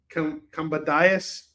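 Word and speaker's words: Kambadais: Jay actually was able to tell me exactly how to pronounce his name. Combatius.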